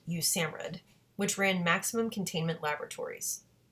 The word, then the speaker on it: USAMRIID: Army Medical Research Institute of Infectious Diseases, abbreviated USAMRIID, and pronounced USAMRIID, which ran maximum containment laboratories.